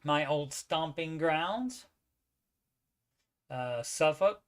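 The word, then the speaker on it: Suffolk: old stomping grounds uh suffk norfol and V Beach yeah we don't pronounce the L um oh still trying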